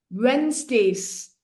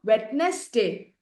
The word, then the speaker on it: Wednesday: school on Mondays Tuesday Wednesdays this is not wetness day W just two syllable Wednesday plural Wednesday Wednesdays